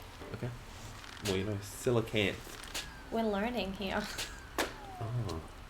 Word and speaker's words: coelacanth: Artichoke says it's pronounced as Silicant. Okay. Well, you know, Silicant. We're learning here. Oh. It's the word of the day. Silicant.